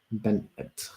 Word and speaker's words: Bennett: Emma Bennett a question is your last name pronounced Bennett or Ben I think it's Benet Benet that's how I pronounce it Benet exactly Ben yeah